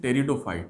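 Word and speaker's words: Pteridophytes: एक ग्रुप है वनस्पति का उसको कहते हैं टेरिडोफाइट्स है मैं तेरी डोर फाइट उसको कहते हैं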